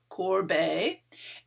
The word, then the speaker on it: Courbet: the 19th century movement called french realism gustav corbay and here is a little a way to help you pronounce it corbei he is the first major figure that we